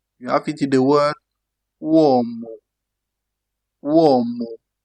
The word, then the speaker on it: uomo: You have it in the word uomo. Uomo. U like in uomo. That is man in English. You think about root. Root in English to get that sound U. You have uomo.